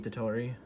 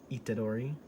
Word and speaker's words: Itadori: that's one of the main gimmicks of yuchi itatori itadori which is the main guy's name yuji itadori i'm i always pronounce them so right in my head why